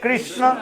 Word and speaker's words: कृष्ण: किस किस मत करो, ठीक से बोलो हरे कृष्ण, किस नहीं, हरे कृष्ण कृष्ण कृष्ण हरे हरे, हरे राम राम राम हरे हरे।